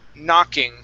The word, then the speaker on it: knocking: Okay, let's go to the word knocking. Okay, in this word, the K is silent. We do not pronounce that K. The word is knocking.